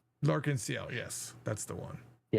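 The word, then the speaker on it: L'Arc-en-Ciel: Lenel, I can't remember how to say their name. It's like a French word. Liel. Lensiel.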